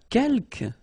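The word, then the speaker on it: quelques: the second one uh Kel you don't pronounce the final s here Kel means few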